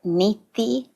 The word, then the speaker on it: neti: So, a beautiful practice to just really bring this home is a practice called neti neti. And it's spelled it's a Sanskrit word, of course, but you can think of it as n e t i neti neti.